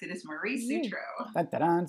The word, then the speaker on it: Sutro: She's an author, and her name is Maria, and I believe the last name is pronounced Sutro. Am I correct? You are correct. It is Marie Sutro.